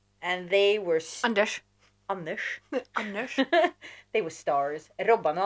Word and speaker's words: Anders: Anders. They were stars. Robban och Anders. Oh. Yeah. That's the proper Scandinavian pronunciation.